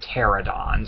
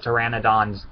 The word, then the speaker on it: Pteranodon: refers to them as pterodons, and I hate it when people do that. I hate it when people call pteranodons pterodons. Like, it's pteranodon so hard to pronounce?